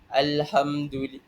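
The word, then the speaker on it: الحمد: Alhamdul Alhamdulillahi rabbil alamin. Alhamdu alhamdu. Jadi ah kita kena sebut alham, kita sebutkan lam tu sekali.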